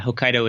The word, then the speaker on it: Hokkaido: Norther island of uh Hokkaido is that how you pronounce it Hokkaido yeah Hokkaido is um what I believe is the correct and he is panning